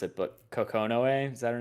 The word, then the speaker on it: Kokonoe: I'm gonna mispronounce it, but Kokonoe, is that her name?